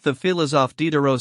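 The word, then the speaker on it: Diderot: I, your reverence, am like the filis of Dero 6. He pronounced the name to rhyme with rot.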